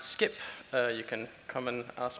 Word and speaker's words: Scipp: today about our project we pronounce it skip you can come and